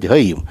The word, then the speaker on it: гоим: Поэтому, когда говорят язычники, а если по-ашкенасски, можно сказать гоим. Если по-сефарски, можно сказать гаим. И так ударение будет правильно.